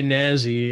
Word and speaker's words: Nasy: It's Mods by Nazi, and Nazi is spelled Nasy, and he does put that mark, his trademark, on every mod.